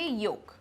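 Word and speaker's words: yolk: Then doubt right next ऐसे word जिसमें L silent है। शुड शुड कहां है? शुड हो गया। नेक्स्ट इज़ काम। काल तो नहीं बोलते ना काम। सो काम और कौन है? योक। वाई ओ एल के योक। ठीक है?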